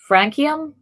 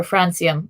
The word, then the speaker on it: francium: do but painting appeals i'm working on frankium or francium i know it's named for france but i've been pronouncing it francium and it's the last